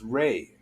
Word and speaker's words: Ra: The word Ra also means light, which is pronounced Ray, which is, that's why sometimes when you see Ra, you'll see the R-E instead of R-A.